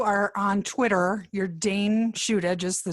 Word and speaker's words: Shuda: Sure, it's a Dayne, Dayne, and then the last name is Shuda, Shuda. Well, I have to tell